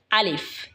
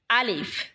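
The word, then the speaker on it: ألف: চলুন আরবি হরফগুলো এবং তার উচ্চারণগুলো জেনে নিই। প্রথম হরফ হলো আলিফ। এটা হলো আলিফ, কলমের মতন দেখা যায়।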